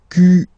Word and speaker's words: quelle: And then the feminine form is written like that, Q-U-E-L-L-E, but it's pronounced like the masculine form. Quelle at the masculine, quelle at the feminine.